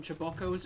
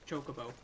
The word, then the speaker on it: Chocobo: got a tobacco Chocobo one of my friends calls them chewbaccos and he will not be told otherwise that it's not pronounced Chocobo but it's not pronounced jiboko I think at this